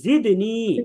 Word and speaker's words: زدني: রব্বি ربي রব্বি এরপরে জিদনি, এটা ঝা, زدني এটা হচ্ছে ঝা।